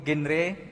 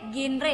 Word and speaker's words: GenRe: bertanya apa sih itu genre untuk menurut Kak Ali dan juga Kasta dari generasi berencana jadi bacanya itu genre ya bukan genre kan kalau genre jadi